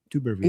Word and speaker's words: Tuberville: Let's do a pro-Trump video by Senator Tommy Tuberville. I don't know if I'm pronouncing that right. Tuberville.